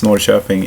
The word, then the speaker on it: Norrköping: today I'm going to North shopping and it sounds weird in English I don't sure if that's how you pronounce it but it's norrköping in Swedish and to watch the